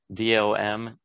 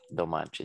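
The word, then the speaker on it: Domančić: That's his first name, and the last name is Domancic, with the little things on them, Domancic.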